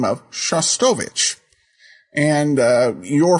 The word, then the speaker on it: Shostakovich: And I believe the way you pronounce the name of the composer that you mentioned is Shostakovich.